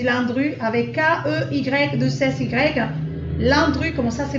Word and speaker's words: Landru: Landru, comme ça se prononce, L-A-N-D-R-U.